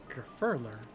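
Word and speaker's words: Gurfurlur: the way then we climb gurler is waiting gurer that's how you say it okay oh [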